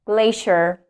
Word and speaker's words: glacier: It's not C here, glacier, glacier.